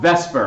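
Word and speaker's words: VSEPR: we have something called vesper i know it doesn't even look like that but that's how we pronounce that acronym is vesper and so we've drawn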